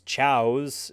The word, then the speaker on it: Chao: think they have gender they're just Chows speaking about something that's Chows if you pronounce it like some way different you get chaos because they're spelled the same way chaos the villain from